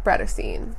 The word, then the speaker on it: Bratterstein: name is Brittany and my channel name is pronounced Brad Essene do I look villainous because that's what I